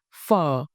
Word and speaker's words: Phở: Use the high tongue dipping raising tongue correctly for the word fu. Let's break it down step by step. Fur one syllable.